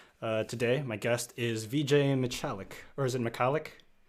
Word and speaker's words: Michalik: Today, my guest is Vijay Michalik, or is it Michalik? Michalik is the pronunciation that I generally use, but it is kind of made up because it's a Polish name.